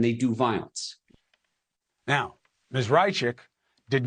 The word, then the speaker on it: Raichik: So first of all, I want to apologize for mispronouncing her name. It's Haya Raichik.